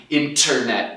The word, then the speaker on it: internet: Sempre que tem N-T, geralmente dentro da palavra o T some. A gente não está demorando ou pausando para fazer esse bafinho de ar. Internet. Não, é mais fácil só falar sem esse T.